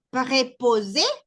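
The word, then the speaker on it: préposé: Preposé, preposé. Se pronuncian exactamente igual, no cambia nada en la pronunciación, solo es en la escritura, ¿ok?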